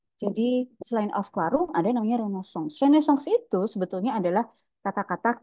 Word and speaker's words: Renaissance: Ada Renaissance. Bacanya Renaissance.